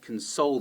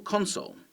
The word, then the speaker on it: console: They might be a fan of computer games, so you might suggest they come over and play some Xbox or PlayStation on your console, your game console, and that's the noun. And so now we see that the stress is at the beginning. Noun, stress at the beginning, verb, stress on the second syllable.